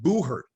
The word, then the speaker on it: buhurt: became tournament and the tournament is called boo hurt or it's spelled b-u-h-u-r-t which kind of was